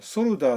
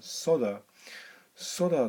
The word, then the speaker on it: solder: それにこれ一応ソルダーって書いてますけど、一応発音するときは L を発音しない方が多いみたいですね。